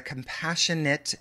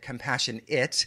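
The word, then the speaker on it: compassion-it: And I pronounced compassionate, compassion it, because in the bio it's compassion dash it.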